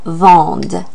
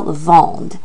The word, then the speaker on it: vendent: or they are selling, it would be pronounced ils vendent. The E and T is silent, but we do pronounce the letter D that comes before that E and T ending. So ils vendent. So there's a difference. To say he is selling, il vend. To say they are selling, ils vendent, where you pronounce that D.